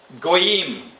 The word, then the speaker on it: Goyim: When you're trying to pronounce a word that is from the Hebrew, you emphasize the last syllable. Goyim.